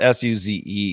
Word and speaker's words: Suze: Her name is spelled S-U-Z-E.